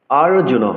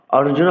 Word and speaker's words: অর্জুন: ওম শ্রী পারমাতনে নমহ শ্রীমদ ভগবত গীতা আথ প্রথম অধ্যায় অর্জুন বিষাদয়োগাহ আরজুন অনেকে কিন্তু অর্জুন বলে এটি অর্জুন বলতে হবে ধৃত রাষ্ট্র উবাচ ধৃত